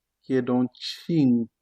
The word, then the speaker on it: cinque: Suivant, 5, qui est donc cinque. On se rappelle de la règle, C devant I se prononce ch. Cinque, cinque, cinque.